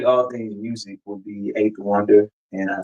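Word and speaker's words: A8THWNDR: I pronounce it eight though, but it's the letter A, the number 8, THWNDR.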